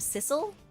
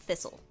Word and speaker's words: Thistle: in some translations named Thistle and in Japanese it's written as Cisu uh or like she said but that's That's because um the th sound doesn't exist in Japanese.